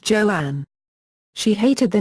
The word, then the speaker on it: Joan: Crawford became the choice Crawford initially wanted her new first name to be pronounced Joanne she hated the name